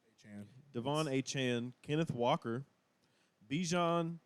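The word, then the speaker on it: Achane: whatever yeah and yeah everybody's been saying achain it's yeah achan Devon aan Kenneth Walker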